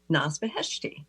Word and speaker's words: Naz Beheshti: I'd like to welcome our guest today, Naz Beheshti. Hi, Naz. Hi, Christine. I hope I'm pronouncing your name right. Oh, you pronounced it perfectly.